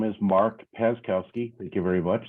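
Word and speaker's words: Paczkowski: by the name of pashkowski would you please state your name my name is Mark pazkowski thank you very much that was a great pronunciation uh it's uh p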